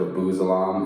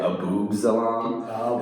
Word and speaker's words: Abu Salam: kid in second grade mispronounced my last name and then it was uh instead of Abu Salam in second grade Abu zalam and that was the